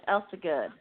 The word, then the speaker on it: Elsegood: So, and I believe most it's got important 3 syllables. Her last name is Elsegood.